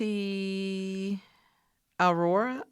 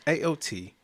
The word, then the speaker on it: Aotearoa: Ati Aurora? Oh, man. No, we're screwing it up. It's AOTEAROA.